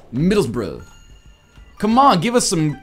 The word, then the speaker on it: Middlesbrough: It's not Middlesbrough, it's Middlesbrough.